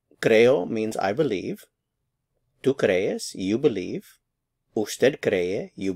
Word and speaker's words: crees: Crees, crees. It's two syllables, cre and es, crees.